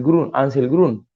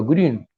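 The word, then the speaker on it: Grün: a publicar pronto se llama Ángel grum se pronuncia Green está muy de moda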